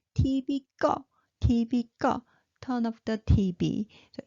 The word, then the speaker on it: 꺼: And then 꺼, high pitched, 꺼. And it means turn up. So 꺼, high pitched.